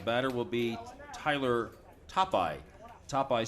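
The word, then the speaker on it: Tophi: Topeye spells his name T-O-P-H-I, and it rhymes with Popeye.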